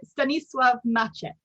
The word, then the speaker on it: Stanisław Maczek: How would you like to pronounce it? So Stanisław Maczek. Stanisław Maczek.